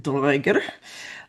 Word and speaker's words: draugr: Dragons and undead draugr, I do the modern Icelandic pronunciation, hoard gold and other great treasures.